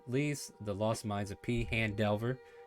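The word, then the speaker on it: Phandelver: the lost minds of p han delver that's how it's said now because kobo chella has made it confirmed uh join us for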